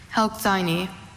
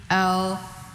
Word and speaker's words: Helxine: Helkseini.